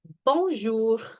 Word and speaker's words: bonjour: be, repeat after me, bonjour, bonjour. Okay, bonjour. ON is on, OU is ou, and R is r.